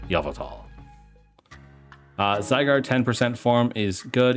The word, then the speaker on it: Yveltal: Yveltal, I guess, is how you technically pronounce him. I watch M&J TV a lot, and it's Yveltal.